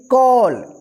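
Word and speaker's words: call: कॉल। यानी जब किसी वर्ड में ए के बाद लास्ट में डबल एल रहता है तो ए का जो उच्चारण होगा औ उच्चारण होगा।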